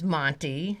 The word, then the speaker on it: Monte: His stable name is Monty. Monty, and it's very particular because it's spelled Monte because his registered name is a Monte Carlo romance.